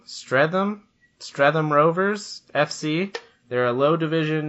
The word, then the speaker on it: Streatham: pull it up I don't know how to pronounce the name give the track give it a whirl all right it's stratum Streatham Streatham Rovers FC there are a low Division